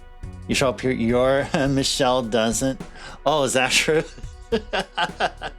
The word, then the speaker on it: Michel: To be fair, that particular Joker, the way you pronounce the name, like in actual official French, it is Michelle.